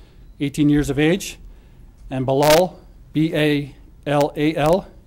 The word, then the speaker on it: Balal: Charged is Abdallah, I'll spell that for you, A-B-D-U-L-L-A-H, Amer, A-M-E-R, 18 years of age, and Balal, B-A-L-A-L, Jeha, J-E-H-A, 19.